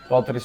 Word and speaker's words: Patric: Und spricht man den wirklich mit, also spricht man den wirklich Patrice? Also Patrice? Ja. Patrice spricht man es eigentlich aus.